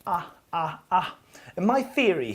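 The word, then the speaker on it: 啊: This character is pronounced ah, ah, ah.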